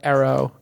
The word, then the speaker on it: Eero: Hey, let me read a quick message for Arrow. Is it pronounced Arrow? What is it pronounced? It's Eero, right?